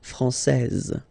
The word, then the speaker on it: française: Okay, so français, here you get this final S that you don't pronounce, so français, and then when you put this final E here, you will get française.